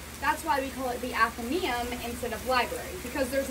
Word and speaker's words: Athenaeum: Sounds easy, but how are you supposed to remember how to spell Athenaeum? Well, it's really not that hard. Just write Athena and then the E-U-M. By the way, it's pronounced Athenaeum, not Athenaeum.